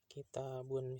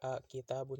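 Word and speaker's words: كتابُ: Makanya dia dibacanya kitabu domah, jadi nggak kitabun, jadi kitabu.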